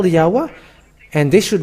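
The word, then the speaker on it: Yahweh: where are they gone but they change it to yaho so those who are those who call yaho where is that a because it should be yahwa and if you put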